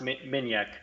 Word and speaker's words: Minjek: Pronounced Minjek.